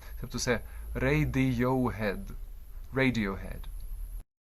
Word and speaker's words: Radiohead: Way і між іншим теж припиніть хикайтеся не редью охед звука х немає в англійській мові найближчий аналог